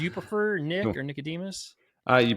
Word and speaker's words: Nickademus: or Nicodemus? You pronounce Nickademus just fine, so we can go with that.